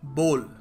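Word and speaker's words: bowl: है सो entrepreneurial L लोग सोचते हैं बी डब् बाउल है बाउल of rice बाउल of soup soup बाउल बाउल है नहीं देखो इसको सही तरीके से प्रोनाउंस करने का तरीका है बोल बोल अ बल of rice a बोल ऑफ कुछ भी कह लो यार बोल होगा ठीक है बी ओल टाइप ऐसे बोला करो अब जरूरी नहीं है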